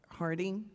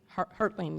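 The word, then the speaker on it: Haertling: Is that Mr. Harding? Hurtling.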